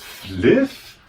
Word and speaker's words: Flyff: Du meinst Fliff? Er spricht man nicht F aus du Vollidiot. Das heißt Fliff Fly for fun.